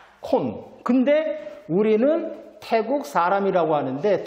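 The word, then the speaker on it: คน: 주는 것이 태국 순이구 태국이란 말은요 발음은 타 사람은 콘 근데 우리는 태국 사람이라고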